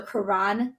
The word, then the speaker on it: Caron: But I always tell people it's spelled like turn the car on.